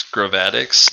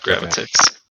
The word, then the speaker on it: gravatics: It's gravatics, not gravitics.